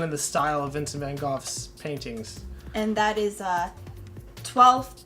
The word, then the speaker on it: Van Gogh: It's Van Gogh, even though for the longest time everyone pronounced it Van Gogh. But it apparently it's supposed to be Van Gogh?